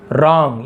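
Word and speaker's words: wrong: रॉन्ग, ये W silent होता है, केवल इसे रॉन्ग पढ़ेंगे।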